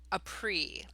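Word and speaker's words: Ypres: shortly after the Second Battle of APRI that's how you pronounce that name and he tended to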